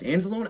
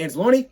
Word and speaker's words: Anzalone: Now, hey, look, Dan Campbell pronounced it as Alex Anzalone. It don't matter. Either way, I think both are still open. If you want to say Anzalone, cool.